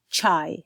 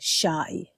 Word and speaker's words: chai: So we would say chai and not shai.